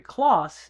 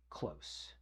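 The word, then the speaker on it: Kloss: It's not Henry Clauss, it's Henry Close.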